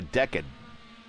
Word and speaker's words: decad: is called a a decade. Not a decade, but a decade. D E C A D. A decad like a diad. Decad.